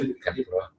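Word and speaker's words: 天ぷら: 그게 원래 이제 템푸라. 그렇죠, 템푸라. 템푸라를 이제 미국 사람 템포라라고 얘기를 하니까. 저번에 일본 사람이죠. 맞죠? 템푸라. 진짜 일본 발음 나왔어요.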